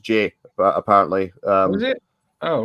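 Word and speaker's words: Ghey: last name is pronounced J apparently um it oh right it's SP g g it's spelled ghe y so you you would think her name is gay but it's apparently pronounced Jay but people used to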